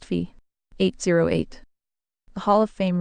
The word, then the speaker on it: phi: of humility where he realizes he had been mispronouncing the Greek letter fi as fi for 40 only to be corrected by an II that it is pronounced fee 8008.